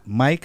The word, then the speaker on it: Myq: mik I spell my name m yq and then you can